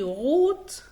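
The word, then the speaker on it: rot: كنت بقول لو حرف الار جاء بعديه حرف متحرك ينطق غين، غير كده بينطق ره عادي زي غوت او غنن.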